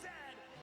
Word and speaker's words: Z: A two a Chesterfield is a coach, and it is pronounced Zed, not Z-Z. True.